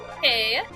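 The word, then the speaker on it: hej: Hey. Hey, hey. Yeah, H-E-J. It's pronounced hey, and it means hello.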